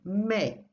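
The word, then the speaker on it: mais: means Burton notice how never pronounce the S at the end Mei okay and oh and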